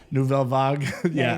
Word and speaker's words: Nouvelle Vague: I don't know the full story of each, we have Nouvelle Vague, I believe is how you are supposed to pronounce it. Nouvelle Vague.